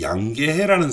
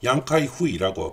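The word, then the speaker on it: 楊開慧: 마오쩌둥의 두 번째 부인이 양계해라는 사람이 있었습니다. 양카이후이라고 발음을 하는데요.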